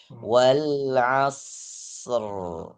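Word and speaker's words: والعصر: Ingat huruf shad ada desisnya jangan dipotong. Wal asr.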